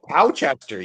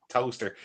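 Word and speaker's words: Towcester: Oh, Towchester. Yeah, Towchester. Oh, she's freak. Toaster. Like who would say toaster?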